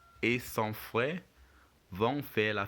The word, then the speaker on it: frère: And on frère, you still get the air sound in the RE.